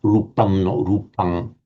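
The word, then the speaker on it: rūpaṃ: Um I have tended to the view and you will hear this in some of the in most of the earlier videos I've done that a final um I will be pronouncing um because I was saying well it's most likely that the Buddha would have been pronouncing this in the same way as Sanskrit and we know that in Sanskrit it would say rupam.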